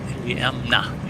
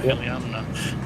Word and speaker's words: Iliamna: So our destination, AK, pronounced Iliamna? Iliamna? Iliamna, yeah, Iliamna.